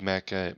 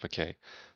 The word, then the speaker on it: Mackay: cj sterkow and dave mackay mckay i think it's pronounced mckay cj starkel and dave